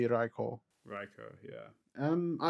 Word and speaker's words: Raikou: nathan some more happiness raiku or riko how do you pronounce it um i mean mine seems to go raiku i think it is because the japanese yeah it would be raikou riko yeah um i